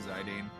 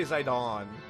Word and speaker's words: Zidane: says the Dane and Zidane I do VV and BB so I do both his okay and JP pronunciation at least you don't say zaidon that is just Criminal all right I do